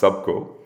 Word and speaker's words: Subko: what is subgo in in fact valerian it's pronounced subco so a lot of people read it as supko but uh i like to kind of make